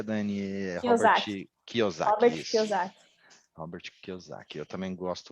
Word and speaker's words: Kiyosaki: Deixa eu ver aqui, investimentos, eu gosto do Pai Rico e Pai Pobre, esse eu acho legal, do Robert, como pronuncia, Dani? Kiyosaki.